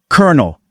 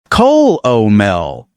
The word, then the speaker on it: colonel: How do most learners say it? Col-o-mel, which makes complete sense. You see those letters and you say them. But how do native speakers actually say it? Kernel, like the kernel of popcorn.